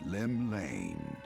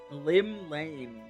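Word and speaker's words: Llymlaen: Lone yet not alone, for the hero's arrival has drawn the gaze of the nation's patron deity, Lim Lane. Lim Lane. I knew how to pronounce that this whole time, I promise.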